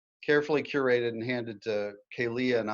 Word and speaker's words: Kealia: It's Kealia. But everybody calls me Kay. That's easier. So if you can't pronounce Kealia, Kay works perfectly.